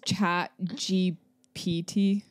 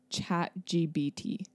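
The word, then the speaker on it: ChatGPT: that that's you know it's chat GPT yeah I always said chat gbt yeah I know it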